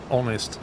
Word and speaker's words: honest: Honest. I suppose honest is a good example, yeah. Honest is silent.